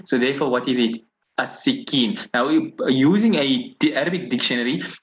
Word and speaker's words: السكين: no harakat on here, you must know that this is the word as-sikin. Now, you could have thought it is as-sakin, but is there a word like sakin?